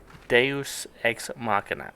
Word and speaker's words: Deus Ex Machina: Deus Ex Machina. I think that's the correct pronunciation of it.